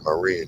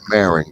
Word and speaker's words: Marin: go on the other side there you're in Marine County or Marin County as they call it but it's pronounced uh Marin and that's where Vish Shakur